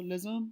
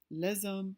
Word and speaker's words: les hommes: We notice that we pronounce the S. The reason why is because the next word starts with an H, which in French is a vowel. So les hommes sont chez moi.